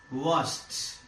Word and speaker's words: washed: The last sound of the verb is sh. Sh. By adding ed, we change it into past tense. This ed is pronounced as washed.